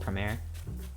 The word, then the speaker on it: Promare: a big girl largon fan i definitely recommend premiere because uh it is a in a way it's just like a spiritual successor type movie it's spelled like this p r o m a r e the whole time i thought it was promare